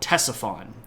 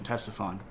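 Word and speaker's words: Ctesiphon: there a place called Tesson and it's spelled with a c at the beginning so it's ctes i p h o n Tesson uh and as artier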